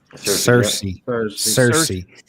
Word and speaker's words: Searcy: A deer hunter encounters what he believes to be several Bigfoot, possibly a family unit near, is it Searcy? Is that how you say it? Yep. Cersei.